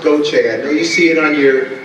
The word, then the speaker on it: Gauthier: are from the Chicago church and it is pronounced go Chad you see it on your there you go that's not who they are but as GA you th i er the correct french pronunciation is Gotye I'm not French i'm from south Louisiana and